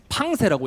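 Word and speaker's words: Pensées: 목사님 최근에 읽었는데, 팡세라고 읽어요. 프랑스어로 팡세.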